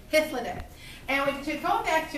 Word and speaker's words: Hythloday: and double checking, but I want to say Hallidays, but that sounds like a sauce, so hold on. Hold on. Hythloday, excuse me. I was in Hallidays. I knew that was wrong. Hythloday.